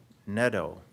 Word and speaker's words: Netto: here, and also Carrie Netto, who is rhymes with meadow.